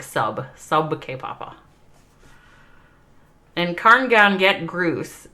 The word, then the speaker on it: sab ke papa: hawkeye told me and he told me it's not sad it's he says you have to say it like sub sub k papa and karn gown get